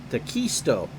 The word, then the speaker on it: D'Acquisito: I pronounced it wrong. John D'Acquisito.